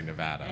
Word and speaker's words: Nevada: I thought you were going to say Nevada. No, it's spelled like Nevada, but if you say Nevada, like, they get pissed.